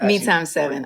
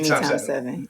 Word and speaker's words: Me x 7: Alicia Keys: “Me times 7.” I say “Me times 7.”